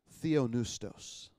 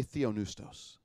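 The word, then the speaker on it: θεόπνευστος: or as inspired by God is the word Theo noose tous everybody say theö news DOS Theo news DOS it's the combination of two words two Greek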